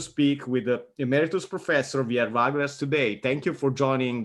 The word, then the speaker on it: Wiel Veugelers: And let me say first my name in Dutch, because I know it's very difficult to pronounce for foreigners. My name is Wiel Veugelers. Okay. I'm learning something new. Wiel Veugelers.